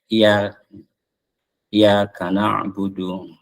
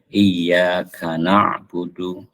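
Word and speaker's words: إِيَّاكَ نَعْبُدُ: yang lalai baca tasjid misalkan yang sering itu pada iyaka suka bacanya i iaka nabudu padahal dia ynya itu ada tasdidnya Jadi harus ditasdidkan iaka nabudu gitu ya ini eh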